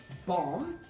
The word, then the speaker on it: bomb: Um so the reason why I need to explain this is because B is silent after M in between morphine batteries. So for example uh comb silent bomb silent combing silent